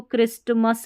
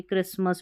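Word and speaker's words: Christmas: यहाँ पर देखिए इसको क्रिस्टमस नहीं पढ़ते, क्रिसमस पढ़ते हैं।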